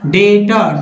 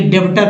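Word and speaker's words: debtor: डेटर, डेटर पढ़ेंगे ना कि डेब्टर पढ़ेंगे, यानी कर्जदार।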